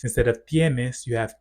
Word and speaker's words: tenés: Relatedly, for verbs that have a vowel changing stem, you'll notice that they don't have that vowel change because the stress no longer falls on that syllable.